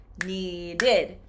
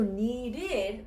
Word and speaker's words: needed: Now, if I change it into the past tense, needed. Now it changes. So needed, this ED is going to be plus 1 syllable.